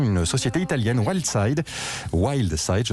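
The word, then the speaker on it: Wildside: à la production une société italienne wild side wild side se prononce bien son nom ne vous dit peut-être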